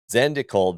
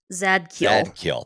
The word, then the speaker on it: Zadkiel: Zandikul then opened a secure... I don't know if I'm pronouncing his name right. Zadkiel.